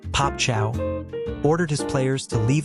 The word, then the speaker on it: Pape Thiaw: Senegal's head coach, Pape Thiaw, pronounced "Pop Chow," ordered his players to leave the pitch in protest.